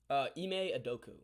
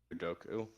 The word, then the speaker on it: Ime Udoka: Ime Udoka. Udoka.